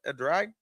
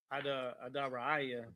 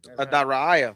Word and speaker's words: Edrei: How you say that? Edrei? Adaraiah. Adariah. That's how it's said in Hebrew.